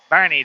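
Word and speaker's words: Boerne: in the weeds lurker mode there you go Bernie Texas that's right thank you Leo thank you I knew it wasn't pronounced born I knew it I couldn't remember though somebody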